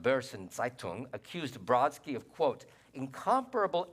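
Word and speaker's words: Börsen-Zeitung: never took German but I think it's pronounced Burson zaitung accused Brodsky of quote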